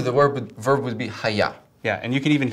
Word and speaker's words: hayah: In Hebrew, the word verb would be haya.